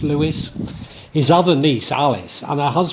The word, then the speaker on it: Leveson: married Sir Richard and Leveson, but I think it's pronounced Lewis, his other niece, Alice,